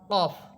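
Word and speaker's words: ك: কাফ হরফের মাখরাজ হবে জিহ্বার। গোড়া থেকে একটু উপরের দিকে বেড়ে। একটু উপরের দিকে উঠে উপরের তালুর সাথে রাখবে।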